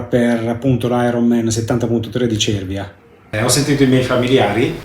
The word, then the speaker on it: Cervia: durante i miei video ho detto Cervia. Per me Cervia è veramente difficile da pronunciare, però è uguale, come si dice Bologna, si dice Cervia, quindi va detta nel modo giusto.